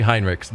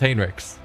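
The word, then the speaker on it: Heinrix: See, feels like it should be Hinrich, but apparently it's Hinrix.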